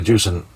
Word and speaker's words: Jusant: Anyway, Jusant, as I've been told it's pronounced, absolutely brilliant.